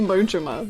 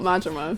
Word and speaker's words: Majima: It's actually Mojima, not Majima.